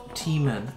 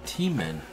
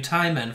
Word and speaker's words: T-Men: Your name is pronounced T-Men. T-Men. Oh, that doesn't sound like Hyman at all. Well, now I know. I've been calling you Ty-Men for a fucking.